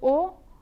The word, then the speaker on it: au: Both AU and AUX have the same pronunciation, but AU precedes a singular noun while AUX precedes a plural noun.